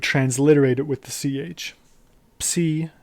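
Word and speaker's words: ψ: So the way you pronounce it is by actually pronouncing both of the sounds. Ps. In English, the P is silent, but in Greek, you pronounce the P. So ps. That's psi.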